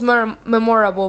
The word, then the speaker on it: memorable: And memorable, the syllable stress is on that first syllable.